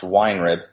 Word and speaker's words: Weinrib: But it's, I think it's pronounced Weinrib. Oh, Weinrib.